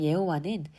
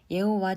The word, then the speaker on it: 여호와: 처음으로 자신의 이름을 노출하 여호와의 히브리 발음 예호와 원래 자음만으로 구성되었는데 영어시 으로 표현하면 내게 자음 yhwh 됩니다 그런데이는 모음이 없어서 발음하기가 곤란하고 또한 원래 히브리인들이 어떤 식으로 발음했다 그러나 통칭 야외 예호와 등으로 부르면 되지 않을까 추정하고